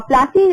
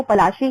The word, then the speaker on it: पलाशी: और प्लासी अगर देखा जाए तो प्लासी इनका अंग्रेजी में इन्होंने अनुवाद कराया प्लासी, अदरवाइज इसका हिंदी में एकदम करेक्ट प्रोनाउंसिएशन जो है वो पलाशी है।